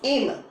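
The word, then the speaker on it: Hamel: And the two main characters, Mr. Emil, never pronounces Emil, it's Emil, okay, actually silent.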